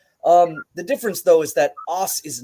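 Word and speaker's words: Ōs: the other is spelled OSS. They both have the same sound. It's os.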